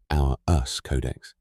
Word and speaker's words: Auras Codex: And when you are ready to go deeper into your own personal signal through Auras Codex, pronounced our us codex, you can explore the signal through the link in the description.